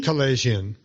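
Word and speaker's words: Kalayjian: Tro, I don't know how to pronounce his last name. Kalajian.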